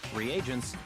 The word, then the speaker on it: reagents: In B, reagents. And in C, a variety of lethal chemicals. Wait, is that how you pronounce it? I make a calling it regent this whole time.